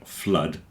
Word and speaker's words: flood: that everyone mispronounces like blood and flood rhyme with mud a lot of people think it must be blued cuz it's like food but it's not like food it's like mud so there's a section